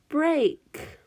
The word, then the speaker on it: break: the next word is break for oh my this time II ace is the long a sound so that one we know is an oddball because usually ei that we're